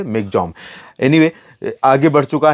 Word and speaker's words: Michaung: में इसको इसके लेकिन अगर स्पेलिंग देखें तो मि चंग है और प्रोनंसिएशन इसका ममा में जो है मिग जम एनीवे आगे बढ़ चुका